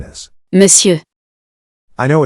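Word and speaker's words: Monsieur: if so you now know that we say miss you it's really important to notice that the pronunciation of this word is quite strange because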